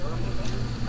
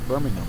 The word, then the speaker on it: Birmingham: Yeah, it was Birmingham. I believe the Brits pronounce it Birmingham. Yes, that would be the They don't emphasize the H, right?